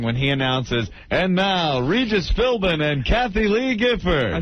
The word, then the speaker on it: Philbin: because of me but just like many other names and many words in the English language the B is silent B is silent but